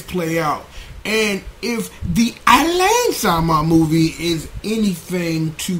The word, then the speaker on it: Alain: How do you people how do how do you how do you pronounce his name? Um Alain.